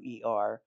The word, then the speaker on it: Tauer: The Holler Tower is spelled like German, Okay. Tauer.